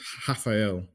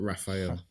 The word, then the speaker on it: Rafael: You pronounce it with the H sound. okay. So it's Rafael, not Raphael.